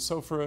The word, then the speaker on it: sophora: The one that I like the most is an herb called sophora, and sophora is spelled S-O-P-H-O-R-A.